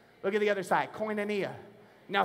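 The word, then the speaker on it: koinonia: you all that Word Fellowship is the word coia someone look at your neighbor say coia look at the other side coia now say it like you knew what you were talking about coia coia means three things are you ready write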